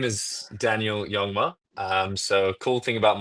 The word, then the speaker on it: Jongma: Uh, well, my name is Daniel Yongma. Um, so cool thing about my last name is the J is pronounced like a Y, so it's it's Yongma.